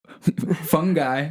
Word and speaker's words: fungi: So you have fungi, fungi, fungi. But evidently in the United States here, you're supposed to pronounce it fungi. So like a fun guy, you know, the classic lame joke.